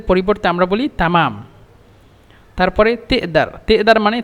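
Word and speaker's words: تقدر: তারপরে তেদার, তেদার মানে তাকদার, তাকদির, তুমি কি পারো, মানে তোমার কি সক্ষম, এভাবে তাকদার। কিন্তু মূলত মিশরা উচ্চারণ করে তেদার।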